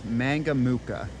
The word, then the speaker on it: Mangamuka: name of the town I've been trying to pronounce mangamuka okay I got it pronounced correctly um so